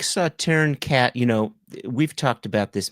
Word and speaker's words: Sauterne: I was told that it is pronounced Sauterne, that the S is silent.